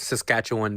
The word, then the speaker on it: Saskatchewan: It's Saskatchewan.